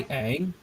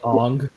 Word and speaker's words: Aang: My only hope is that they pronounce Aang's name right. Hi, Aang. Yeah. Not hi, Ong. Aang. Why do they call him Aang? No. No, it's not. Aang.